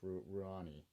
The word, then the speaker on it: Rouhani: I always mispronounce the president's name. It's Rouhani.